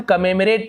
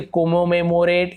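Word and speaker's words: commemorate: टू कमेमरेट, इसे हम कमेमरेट पढ़ेंगे, ऐसे कोमोमेमोरेट इस प्रकार से उच्चारण नहीं करेंगे। कमेमरेट, इसे इस प्रकार से अ ध्वनि निकलता है ओ का।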